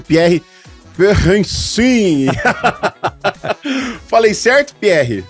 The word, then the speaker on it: Perensin: Como que se pronuncia esse nome? Perrencin. Perrencin.